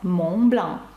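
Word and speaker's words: Mont Blanc: Пишеться Монблан ось так, і зараз вам зрозуміліше, чому «т» та літера «с» наприкінці не вимовляються. Ну, можна також згадати марку аксесуарів. Згадайте, як вона пишеться. А вимовляється «Монблан».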